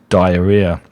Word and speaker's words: diarrhea: together and you get diarrhea and that's the pronunciation of diarrhea.